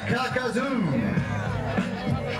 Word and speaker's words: Kakazoo: Ken Kakazoo. Rhymes with Kakadoo. No.